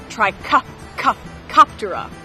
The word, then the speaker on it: Trichoptera: A good way to remember this order name is that hard C sound in Trichoptera. Trichoptera.